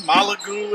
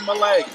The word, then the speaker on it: Malek: that whole first half i was pronouncing molly's name wrong malagu everything under the sun but it's molly malay so she's been playing